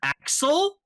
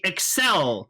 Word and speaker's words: Accel: it's pronounced kamen rider axel but it's clearly excel yeah like the word accelerate yes so it's not